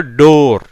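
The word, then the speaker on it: door: இப்போ டோர் இங்கே வருது, இட் ப்ளஸ் ஓ டோ. ஆருக்கு வந்து இர், எப்படி வந்துடுது? டோர் அப்படிங்கிற உச்சரிப்பில் வருது.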